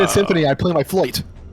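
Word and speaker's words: fluyt: Flute. Flute.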